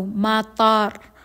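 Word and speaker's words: مطار: nila ay magkaiba Okay si airport ay may long vowel sa may ta so matar Mat ta Mata So long vowel ta and then ra matar and doon naman sa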